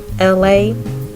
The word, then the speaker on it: Elay: It's me, LA. Pronounced like LA, like the city.